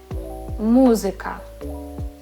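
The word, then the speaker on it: музика: Muzyka, muzyka. We have three different vowel sounds and all of them I need to pronounce muzyka.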